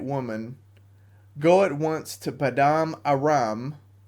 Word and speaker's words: Paddan Aram: Go at once to Paddan Aram. That's not how you say it, but that's how you should because it rhymes. Paddan Aram.